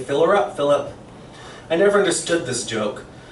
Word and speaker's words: Philip: say, "Fill her up, Philip." I never understood this joke. The second syllable in my name, if said in English, should be pronounced like the I in icky, not the U in up.